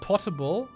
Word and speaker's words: potable: Semi-fun fact, the American would pronounce potable to rhyme with motable.